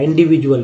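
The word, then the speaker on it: individual: अब इन प्रीफिक्स है इंडिविजुअल नहीं बना, इंडिविजुअल, डी को यहाँ पर ज उच्चारण किया गया इंडिविजुअल में।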